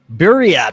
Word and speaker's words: Buryat: Did I pronounce that right? A Buryat? Buryat.